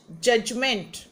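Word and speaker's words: judgment: next question make nouns जज जजमेंट यह D silent है जज जजमेंट डिफर डिफरेंस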